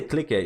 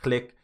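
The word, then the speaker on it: Clique: because it's way easier so when I say click a it's actually pronounced click but it's written click click a you can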